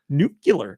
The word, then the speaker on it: nuclear: he said people say that at work yeah nuclear it's pronounced nuclear uh e p i t o